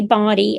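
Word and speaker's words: Boddie: And we and we say Body. I have other members in the family that call it Body.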